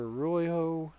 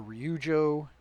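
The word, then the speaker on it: Ryujo: And so, the uh carrier Royo or Rujo, either pronunciation is correct.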